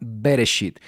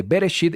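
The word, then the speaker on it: בראשית: La parashá se llama Bereshit. Estamos hablando de la porción número 1. Así es como se escribe en hebreo, así es como se pronuncia.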